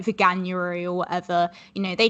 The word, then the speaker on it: Veganuary: No, because Veganuary, it's not how you say vegan, but it is how you say January. So I would assume that it is Veganuary, but no, I've never